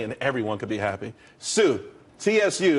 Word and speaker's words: tsū: Sue, TSU. It's pronounced Sue though.